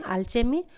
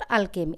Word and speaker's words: alchemy: जो इसको हम प्रोनाउंसिएशन कर सकते हैं अल्चेमी और अल्केमी, ALCHEMY, अल्केमी of nature, and इट was written by William Blake.